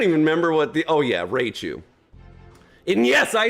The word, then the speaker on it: Raichu: You can say Raichu, you can say Rachu, you can say Rauchu, you can say Richu, you can say Rochu. I don't give a crap. I say Raichu because I'm American and that's how I pronounce it. That's how it's spelled. R-A-I makes Ray.